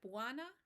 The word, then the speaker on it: bwana: sound jumbo jambo habarigani we can hear that buana and sana rhyme buana is a way